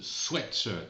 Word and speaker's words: sweatshirt: Et on prononce sweatshirt parce que sweet avec 2 E, ça veut dire doux, sucré ou un bonbon, et sweat c'est la transpiration.